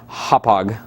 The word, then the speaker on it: Hauppauge: You want to make sure you know how to say it's Hauppauge. Hauppauge. The CEO actually told me.